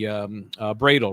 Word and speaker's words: Bradel: And I see attorney Bradel, right? Am I pronouncing that right? Bradel? Yes. Yeah. He goes in and out of... Doesn't have an E at the end. It ends with L.